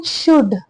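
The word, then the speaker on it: should: जा सकता समय everyone शुड keep in mind everyone यानी कि हर कोई या फिर हर एक शुड क्या है यह वर्ड शुड शुड में एल साइलेंट होता है एस एच ओ यू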